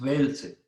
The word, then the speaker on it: Welzel: Alemán del profesor Hans Welzel. Se escribe Hans, H-A-N-S, Hans, y luego Welzel con W, Welzel con Z, W-E-L-Z-E-L, Welzel.